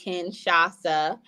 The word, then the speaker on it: Kinshasa: oh I created um Kinshasa as an old and a thank you to um culture and bloodline and history for people to have fun learning how to say it Ken shasa and that's always fun